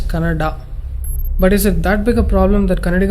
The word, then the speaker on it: Canada: video where people were fighting whether it's Canad or Canada people from North India should understand that it is pronounced as Canada but is it that